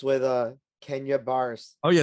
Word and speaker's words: Kenya Barris: it's with uh Kenya bars oh yeah it's Kenya bear so it's a scripted comedy right right how would you call him Billy Boris I didn't know how to pronounce it yeah it's Kenya Barris he's he's Russian I said Boris not Boris